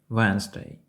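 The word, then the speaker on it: Wednesday: ви вимовляєте це слово якщо ви вимовляєте букву в першому складі то це вже помилка ми вимовляємо це слово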